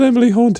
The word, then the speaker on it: Emily Hauntë: I'm called Emily Hauntë because it rhymes with Emily Brontë.